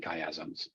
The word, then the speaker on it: chiasm: How do you pronounce that word again, Jay? Which one? Chiasms?